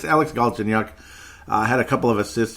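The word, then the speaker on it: Galchenyuk: be done forever and get it it's Alex ginuk had a couple of assists in the game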